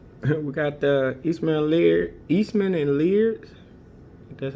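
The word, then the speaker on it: Laird: We got the Eastman and Lear.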